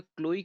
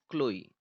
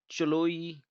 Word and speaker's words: Chloe: क्लोई की spelling देख लीजिए आप, CHLOE, क्लोई। अब इसको आप चलोई तो नहीं पढ़ेंगे, क्लोई है ये।